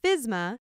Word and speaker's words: FSMA: The Food Safety Modernization Act, commonly shortened to FSMA and pronounced FSMA, is a federal law.